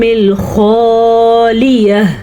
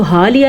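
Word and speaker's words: الخالية: اسلفتم فی الایام الخالیہ. خا کا تلفظ جو ہے اس کو آپ نے پر بھی پڑھنا ہے اور دھیان سے بھی پڑھنا ہے. اس کو حالیہ نہیں پڑھ سکتے، اس کو حالیہ بھی نہیں پڑھ سکتے.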